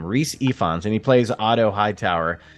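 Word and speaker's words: Rhys Ifans: pronounce this name but his name is Rhys ephons so that's how you actually say his name Rhys ephons and he plays Otto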